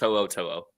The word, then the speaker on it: To'o: Yeah, no, it's To'o.